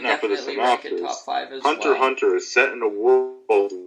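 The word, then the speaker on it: Hunter × Hunter: next is number five number five hunter it's pronounced hunter hunter even though spell hunter x hunter this is the 2011.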